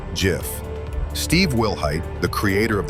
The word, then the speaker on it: GIF: It's pronounced GIF. Steve Wilhight, the creator of the graphics interchange format, declared it as GIF in his 2013 webbby award speech, intentionally echoing the peanut butter brand.